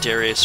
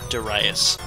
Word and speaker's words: Darius: I just called it Darius forever, but it's supposed to be pronounced Darius.